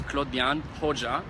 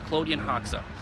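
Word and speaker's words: Klodian Hoxha: about yourself so translation of my name is Claude young hoja plugin ho gung ho ja ok I go by and actually it's a professional name or the American pronunciation is Claudia knocks up whichever it works it's all good for me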